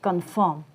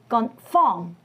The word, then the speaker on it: confirm: Let's have a look at this word confirm.